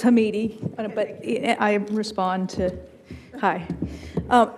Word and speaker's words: Hamidi: I've never known how to pronounce it. It's Hamidi, but I respond to, hi.